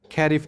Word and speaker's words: खरीफ: Now second one is your खैरिफ crops. खरीफ बोल सकते हैं, खारिफ बोल सकते हैं, यू इट कैन be pronounce in different ways, are grown with the